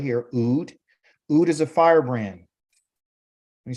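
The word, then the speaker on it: אוד: this idea of here, which you would call Ood. That's how you pronounce this right here, Ood.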